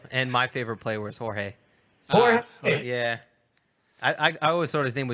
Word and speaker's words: Jorge: And George, you're awesome. And they're like, oh, it's Jorge. Like, It's just different language. It means the same thing. exactly. Just pronounced differently.